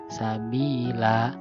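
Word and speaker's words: سبيلا: Yang ini, sabila, la. Nah, ini ya. Jadi tidak dibaca lan karena waqaf, jadi dibacanya la, maka disebut mad iwad.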